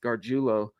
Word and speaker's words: Gargiulo: Nick Garulo, which by the way, that is the pronunciation of his name, Gardulo.